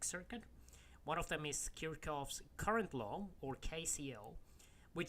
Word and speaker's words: Kirchhoff: way of pronouncing this it is the German surname so the correct pronunciation is actually karakov but you know either